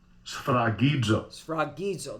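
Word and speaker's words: σφραγίζω: How do you pronounce it? Strong's G 4972. Sfragidzo. Sfragidzo, there you go.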